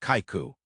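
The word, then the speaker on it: 邂逅: The subtitle encounter is pronounced Kaiku.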